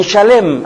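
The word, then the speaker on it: שלם: marqu yedek reinó en shalem así se pronuncia en hebreo shalem Shin lamet y mem palabra cuya raíz comparte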